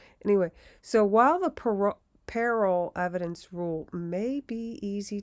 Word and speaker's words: parol: parole evidence rule or peril now a lot of people pronounce it parole like uh being on parole with an e at